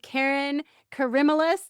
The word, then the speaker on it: Kerryn Karimalis: I am here with Kerryn Karimalis. Did I pronounce that one right?